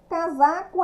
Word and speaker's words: casaco: não vai formar casaco casaco é com essa é a sua escrita mas a pronúncia com z depois vai temos a